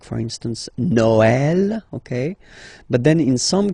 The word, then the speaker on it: Noël: that in some cases you will have to pronounce it like eh, okay, like for instance Noël, okay, but then in some cases as well it can be pronounced like eh, okay.